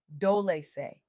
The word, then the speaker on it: Dolce: I'm your host, Dolce, pronounced Dolce, like sweet softness whispered in French.